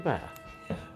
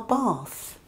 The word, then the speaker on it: bath: I'm going to take a bath. Really? Where are you going to take it? This is our bath. Jay and I pronounce the word bath a little differently.